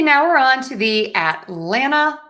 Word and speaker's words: Atlanta: In both cases, we are going to stress the middle syllable, the lan. Atlanta.